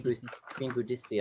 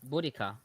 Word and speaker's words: Boudica: This is I'd the rather have story a of Molotov Boudicca, right? cocktail to throw than a spell. Queen Boudicca of the Iceni. Boudica.